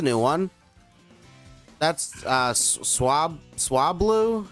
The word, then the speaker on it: Swablu: oh that's a new one that's uh swab swabl how do you say it swablu that's right that's a dragon type I believe